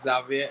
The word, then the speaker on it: Xavier: So my name is Xavier. Starts with an X, ends with a Z.